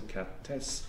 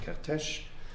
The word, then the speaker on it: Kertész: Levi Wiesel Kertész, as an Hungarian friend told me, I have to pronounce him Kertész, not Kertész.